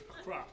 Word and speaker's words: Accra: How would you pronounce Accra? It's Accra. Accra. Accra. Just, that's more Americanized. No. That is how it's pronounced.